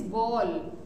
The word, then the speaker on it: bowl: is ball next is ball w is silent in it therefore it is called